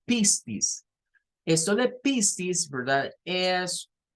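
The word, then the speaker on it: πίστις: Aquí está, miren, la misma escritura en griego que estaba arriba, que en griego esto se pronunciaría como pistis.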